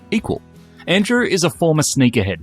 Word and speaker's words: EQL: That's EQL, pronounced equal.